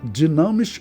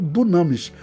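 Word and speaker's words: dynamis: Pode pronunciar dinamis ou dunamis.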